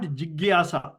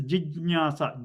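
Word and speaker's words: जिज्ञासा: Okay, so it is not jigyasa or jignyasa. It is jijnyasa. Ja. Jigyasa. Okay, jijnyasa is the same like vijnanam, jnanam, prajnanam, all those.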